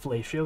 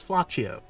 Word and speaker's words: Flaccio: this one's for you that's not fellatio it's flaccio see this guy knows how